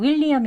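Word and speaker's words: William: 되겠습니다 다음은 윌리엄 있니다 윌리엄은 이렇게 여기 또 강세가 여기 표시가 강세 표시예요 will 하면은 강세가 들어 있는 모음에 특징이 있는데요 소리가 길게 나고 높게 그리고 강하게 들립니다 그렇게 발음을 하셔야 돼요 그래서 그냥 윌리엄 윌리엄이 아니고 윌리엄 윌리엄 이렇게 발음을 해 주시는 것 또 유의하셔서 해보세요 두 번 해 보겠습니다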